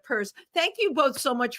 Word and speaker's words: Pierce: for an lgbtq organization have the word purse in it as in I've got a fabulous purse exactly the the Zimmerman purse Democrats um and we're gonna have to remind people of that because they're gonna like forget that they're gonna see it like I did and say Pierce instead of purse thank you both so